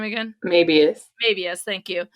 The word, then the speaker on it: Mabius: I just don't know how to pronounce his last name. It's Eric Mabius.